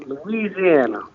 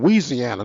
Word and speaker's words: Louisiana: I'm from Louisiana, born and raised. Well, he said that loud and proud. You didn't say it right, though. You from Louisiana, not Louisiana. Louisiana.